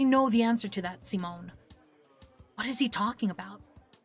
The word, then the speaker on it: Simone: I always find it funny Meadow pronounces Simone as Simone. I don't know how to pronounce it anymore. I would normally see that and go Simon, but apparently his name is not Simon.